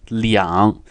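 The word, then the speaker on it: 两: you don't use are you won't say what can tell are going on it's actually Leon so they're these two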